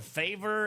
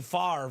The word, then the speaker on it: Favre: Was it Favre or Favor? It's definitely Favre, but his name is one of the most butchered names when he first came in the league.